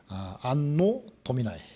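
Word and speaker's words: Anno Domini: 것을 결정하는 BC와 AD의 기준점이 되는 Before Christ, 안노 도미나이, 발음은 안노 도미나이론데요.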